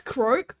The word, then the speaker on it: croque: Pronounce croque.